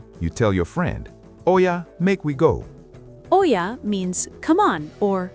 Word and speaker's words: make we go: Pronunciation: make we go. Say I'm smooth like one phrase.